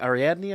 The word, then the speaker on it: Ariadne: Someone brought up a really great point about, I always mispronounce her name, Ariadne, I think is how you pronounce her name.